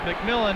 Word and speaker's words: McMillan: pronounces his name because it could go MCM but he says it's McMillan and be ready to